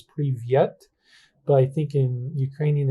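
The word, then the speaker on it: привет: I took some Russian classes, so I know in Russian it was privyet, but I think in Ukrainian it's privit, something like that.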